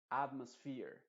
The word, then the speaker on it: atmosphere: En este caso sí está llevando la fuerza de la voz principal, es decir, la número uno. Y fear va a ser la sílaba que lleva, que tiene también importancia, pero en segunda instancia. Atmosphere. Entonces esto no se diría atmosphere, sino atmosphere. Atmosphere. O sea que tanto la at como la fear se están enfatizando, pero